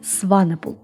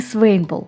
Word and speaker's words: Swanepoel: Ее верное произношение Сванепл, не Свейнпл, как то пытается донести русскоязычная Википедия. Не Свенпл, не Сванпл, а именно Сванепл. У Кэндис всегда были проблемы с тем, как произносят ее фамилию. Она часто использует как пример сочетание слов «лебедь в бассейне». Swan и Nepal.